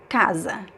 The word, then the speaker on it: casa: The second to last is stressed. Casa, casa. First stressed, second syllable is unstressed, it's weaker.